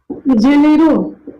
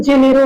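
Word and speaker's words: Janeiro: कितने जगह आपको जेनेरो पढ़ने को मिलता है, कितनी जगह जेनेरियो पढ़ने को मिलता है, वो दोनों प्रोनाउंसिएशन है जिसको हम अलग अलग बोल देते हैं, लेकिन जेनेरो परफेक्ट शब्द है।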